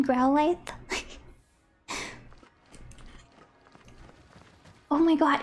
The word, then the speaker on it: Growlithe: Oh my god, we could have got a Growlithe? Or Growlithe? I always want to say Growlithe, but the word lithe is pronounced lithe. So shouldn't it be Growlithe?